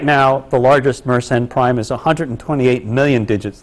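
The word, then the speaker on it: Mersenne: that Story one is it's meren not maren I was mispronouncing it and the second is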